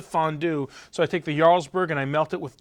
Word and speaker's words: Jarlsberg: It's spelled with a J, but you pronounce it Jarlsberg.